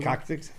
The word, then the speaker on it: coccyx: Coccyx.